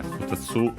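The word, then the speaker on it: ふたつ: Wanted to just confirm that, yeah, futatsu, accent on the tsu.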